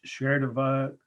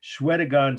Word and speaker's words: Shwedagon: So first one to cut is Sherdava, I'm sorry, it's hard to pronounce it, Shwedagon Stupa from Burma, or Myanmar.